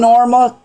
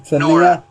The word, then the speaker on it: Nora: And friend Norma, how you pronounce it? Nora. It's Nora.